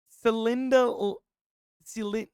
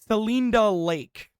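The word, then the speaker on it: Celinda Lake: younger voters Cinda S I probably I probably butchered that so I apologize to those residents but uh a democratic pollster wait hold on well I can confirm that I was off by a bajillion pronunciations it's uh selinda lake so uh I apologize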